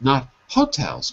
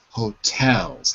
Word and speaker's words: hotels: hotels hotels hotels so the stress is on the second syllable not the first not hotels but Hotel hotels how many Hotel how